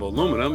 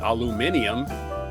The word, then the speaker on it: aluminium: Uh also scientists scientists have created a powerful new form of aluminum or as you call it in England aluminium. A couple of extra syllables for some reason.